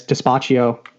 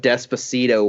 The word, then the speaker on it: Despacito: of all time on YouTube is, and it's Despacio by Louis, I can't even pronounce that name. Louis Fonzi. Oh, that's Despacito.